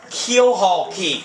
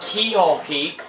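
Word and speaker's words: Keelhaul Key: like just figured it out how to actually pronounce the name of the island it's called khaul key not key hul key I always said Keyhole so we're here now cut scene time ah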